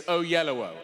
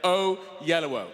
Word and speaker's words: Oyelowo: It's Oyelowo. O on both sides of yellow. Oyelowo. Oyelowo.